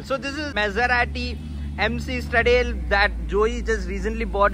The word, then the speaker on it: Stradale: Stradale. That's how we should pronounce it.